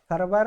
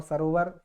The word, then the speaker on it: सरोवर: ये सरवर, सरवर, सरोवर, सरवर और सरोवर ये आपके नदी के पर्यायवाची है, सरोवर, है ना। सरोवर, इस सरवर नहीं सरोवर आपका शुद्ध उच्चारण हो जाएगा।